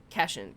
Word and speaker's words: cation: Cation. Cat ion. Positively charged ion. Yeah. So I'm not familiar with that term, and that makes sense if that's how you actually pronounce it, cation.